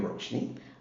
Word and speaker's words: Roshani: privilege to be with rosne how are you rosne I'm great Dave is that the right pronunciation of your name absolutely right and I